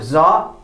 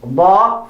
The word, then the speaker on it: ضا: Not za, not za, not dha, but ضا. ضرا. ضرا. Remember to pronounce ضا from the edges of your tongue.